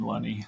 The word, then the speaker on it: Lunney: the podcast Lenny is it did I pronounce that correctly Lenny you did Lenny like money is what I say Lenny like money I'm a I'm a the only